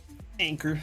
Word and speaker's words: Ahnkor: I got scared, so I asked, and Ahnkor said it basically is anchor, like what you would find on a ship.